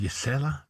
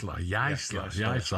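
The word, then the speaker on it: Jaissle: This is is it Yasela? You what? Yaisla. I've heard so many different pronunciations.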